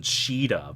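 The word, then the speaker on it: Caeda: one that you see on Young Saida or Kaida. And I keep hearing different pronunciations for her name. Shada or just call her Al-Qaeda. Everything is fine. Yeah. I mean, the proper pronunciation Sheeta, but who cares about that?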